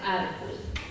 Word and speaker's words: Arbol: Sin tilde, pero igual se pronuncia árbol, para que tomemos nota.